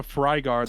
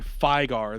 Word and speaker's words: Fygar: So, first of all, that is not called a Frygar, that's called a Fygar. There is no R at the beginning of it. It is a Fygar.